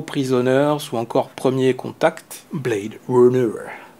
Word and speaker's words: Blade Runner: ou encore Premier Contact, Blade Runner, prononcé à l'américaine, Blade Runner.